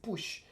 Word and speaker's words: Puig: Igual en Argentina, Manuel Puch, aunque se escribe Puig, pero tengo entendido que se dice Puch.